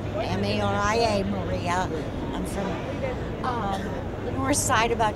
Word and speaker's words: Maria: okay can uh you stank your name and spell it and tell us where you're from from please my name is Maria m a r i a Maria I'm from um the north side about